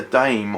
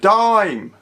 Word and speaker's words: Dime: It is a dime, actually. I don't know why I said dame. Well, I know I said dame because it's spelled dame, but it would be a dime.